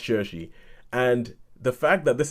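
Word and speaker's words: Saoirse: saw the name and I was trying to pronounce it I was like Suarez but eventually you know that it's shersey it's pronounced shersey and the fact that this is a film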